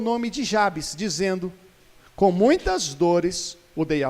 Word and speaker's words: Jabez: nome não muito legal o nome dele era jabs já vi alguns pronunciando jabez jabs polaco versículo 9